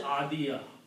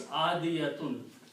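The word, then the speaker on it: عاديات: So if you stop, you will say adiya. If you pronounce fully, it's adiyatun.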